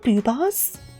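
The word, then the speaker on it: Boohbah: Are they called Boobars? I'm googling this quick. Booba. Oh, the show is just called Booba. but it is spelled with an extra H. So it's spelled B-O-O-H-B-A-H. Booba.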